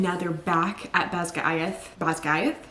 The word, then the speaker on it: Basgiath: Basgiath? Yes, that's how you say it.